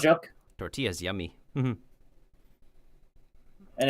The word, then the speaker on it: tortilla: But also tortillas. No joke. Tortillas yummy. Mm-hmm. And it's not pronounced as tortilla, it's tortilla.